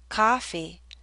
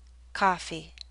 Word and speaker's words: coffee: is pushed backward more if you hear ah coffee the lips are more relaxed and the tongue may be more forward coffee coffee listen as I read these three sentences is